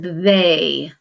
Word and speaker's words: they: continents but it's not this again is a vowel team and this says they when you're high-frequency words